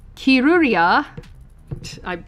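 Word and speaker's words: キルリア: Alright, Kirlia, or Kiruria... that's how it is pronounced in Japanese, I promise, is known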